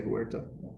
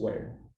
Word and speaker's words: Huerta: You don't say Huerta. It's just where. Huerta. Yeah. Like literally, You Huerta. don't- Yeah, you don't pronounce the H. Like the word where.